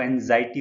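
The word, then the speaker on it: anxiety: दूसरा है एंजाइटी, इसको एंजाइटी प्रोनाउंस करते हैं, ध्यान रखिएगा।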